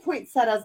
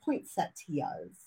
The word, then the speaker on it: poinsettias: are making paper poinsettias I always say it wrong I said poinsettias my whole life but it's poinsettias right Point said yeah yeah I have